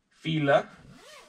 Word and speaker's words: Fila: First item we have is a Fila jacket. I think that's how you pronounce it. That's how I always pronounced it. I know some people say Fila, but that just seems weird. So hopefully this fits on the mannequin.